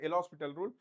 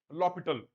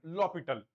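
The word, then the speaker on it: L'Hôpital: People call it as L'Hospital rule, but actually it should be pronounced as L'Hopital rule. L'Hopital. H is silent. L'Hopital.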